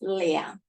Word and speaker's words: 两: Before major word, the number is 2. We pronounce 两.